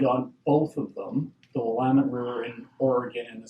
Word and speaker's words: Willamette: I believe I've lived on both of them, the Willamette River in Oregon and the South Saskatchewan in Saskatchewan. And he knew how to pronounce Willamette.